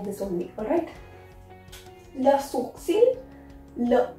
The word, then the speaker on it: sourcil: It's quite a typical word. You need to understand that how to pronounce it. That is le sourcil. We will not pronounce L here. L is silent. That is sour.